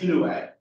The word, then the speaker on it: Inouye: His name is pronounced Inouye, but yeah, that's a phonetically impossible pronunciation.